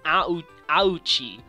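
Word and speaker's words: 亜内: In Japanese, their surname is a Japanese name in kanji, but it's pronounced as Auchi. Uchi, but it sounds like ouch, so that's why they changed the pun to this in the English version.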